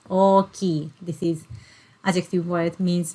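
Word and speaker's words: 大きい: Oki. Oki. So you can see this kanji character is pronounced as o, and ki. Oki.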